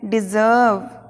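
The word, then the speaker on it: deserve: Next डिजर्व, डिजर्व means है योग्य, लायक, इसे बोलना है हमें डिजर्व। आर को नहीं बोलना है तो डिजर्व, इस जर्व पे थोड़ा स्ट्रेस देना है, ये कोमा दिख रहा है ना, तो डिजर्व।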